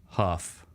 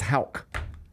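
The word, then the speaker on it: Haugh: Pronounce it. Huff. Okay. Hoff huff huff. That's where I would go too. Yeah. Except it's Hulk.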